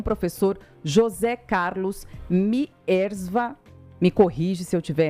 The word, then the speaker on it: Mierzwa: Bom, você pronunciou corretamente, é Miersva.